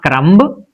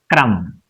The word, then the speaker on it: crumb: So it is not crumb but it is crumb crumb.